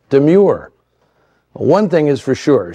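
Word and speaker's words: Domergue: She insisted, however, it be pronounced Demure.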